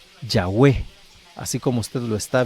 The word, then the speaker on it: Yahweh: o sea, a YHWH, las vocales que tenía la palabra Adonai y Elohim para dar a entender este nombre, Yahweh.